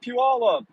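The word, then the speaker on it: Pe Ell: river up ahead ah PE Alla and some of you in the chat are going huh yes that's how you that's how you pronounce that PE all up I got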